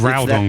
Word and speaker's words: Groudon: Pokemon's names anyways, like Kyogre or Kyogre or Groudon or Groudon or whatever. Like it's just Well, I think it's that- Groudon because it's ground.